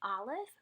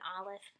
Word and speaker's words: Aleph: This letter has no sound. It's kind of like the stoppage that occurs when you have a silent H. So for example, there's the word air in English. We're not really pronouncing that H. You really don't even know that it's there unless you know how to spell this word. And that's kind of what an Aleph would be like.